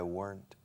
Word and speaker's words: weren't: Es una sílaba. Weren't. Weren't. Weren't. Weren't. La N sí suena.